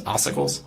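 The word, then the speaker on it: ossicles: So oicles. Okay. What is that? So it depends where you're looking. There there are oicles in different locations.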